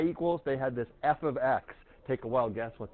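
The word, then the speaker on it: f(x): got G of X that's how you say it out loud with the parentheses it's weird because you think that means multiply stuff together it does not we'll say it once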